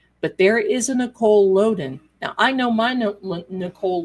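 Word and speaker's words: Lodan: It's it's pronounced Loen.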